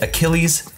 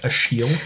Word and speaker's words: Achilles: Heart, Goliath Gauntlet, and Achilles Accelerator. Pretty sure that's pronounced Achille. Achille Accelerator.